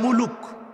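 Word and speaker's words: Mulk: আর যদি আপনারা ওইভাবে বলেন বাংলা ভাষায় মুলুক বলে না, রাগ করতেছেন? মুলুক, মুলুক। আর সঠিক উচ্চারণ করতে হলে কিভাবে? মুলক।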